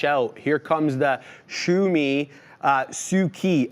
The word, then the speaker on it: SU7: Here comes the Xiaomi Suki, SU7, pronounced Suki in Mandarin.